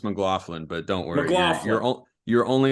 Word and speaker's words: McLaughlin: to be on with you guys it is pronounced McLaughlin but don't worry you're only about the 879th